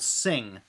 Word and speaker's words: Syng: they launched this company called sing and you know obviously as the name would imply the speakers sing it's a hi-fi speaker company uh but it's spelled s-y-n-g and obviously i'll drop